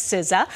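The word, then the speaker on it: SZA: compiled by the online language learning company Babel siza she's one of spotify's top 10 most dreamed artists of 2023 that's siza most people have trouble with Killian Murphy he's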